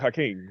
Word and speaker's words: H.A. King: If you want to pronounce it, it's hacking, I guess, or whatever. But I always said it like Hakeem, like okay, I guess, Hakeem, but it's like it's H.A. It's my first two initials, and my last name is King.